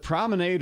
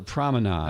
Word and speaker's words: promenade: And it's either way is proper. It says depending on the geography of where you're from.